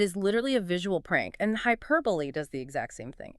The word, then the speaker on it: hyperbole: Except hyperbole uses the hyper from hyperlink, but stresses the second syllable, high key r e r, and the ending is booley, rhyming with the word believe without the v, h y p r booley.